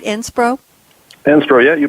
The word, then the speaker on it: SPRO: Am I pronouncing it right, SPRO?